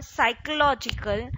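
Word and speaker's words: psychological: हम पढ़ रहे हैं factors affecting consumption function, factors affecting consumption function और determinants of consumption function, subjective और साइकोलॉजिकल, पी इसमें साइलेंट होता है।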